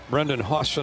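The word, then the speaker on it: Brendan Hausen: That's pronounced. Brendan Hawson out of Amarillo, Texas, the senior who averaged double figures at K State last year.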